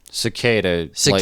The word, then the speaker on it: Sequeira: you're it's it's cicada like the insect like the insect yeah pronounced like the insect not spelled like the insect dude cicada dude I'd